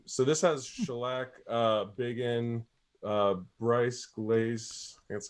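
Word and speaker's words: Brise-Glace: So this has Shellac, Biggin, Bryce Glaze, that's how you say it, and US Maple.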